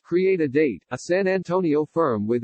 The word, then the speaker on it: CRE8AD8: CRE8AD8, pronounced Create a Date, a San Antonio firm